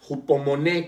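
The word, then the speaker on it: ὑπομονή: La palabra constancia viene del griego hupomoné, con acento en la última E, y con J, hupomoné, que significa resistencia o aguante alegre.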